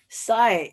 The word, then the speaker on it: sigh: Sigh is very similar to sign, but it's different because it has an H instead of N. So you would pronounce it sigh instead of putting it together into an N. So it's a sigh, like a chime.